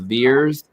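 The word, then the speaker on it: VAERS: that the reporting agency i think is pronounced veers v-a-e-r-s or so uh when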